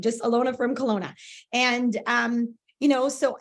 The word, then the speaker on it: Kelowna: uh my name is Ilona from Kelowna British Columbia up in Canada I know it Rhymes it's kind of silly Ilona from Kelowna that's how my stage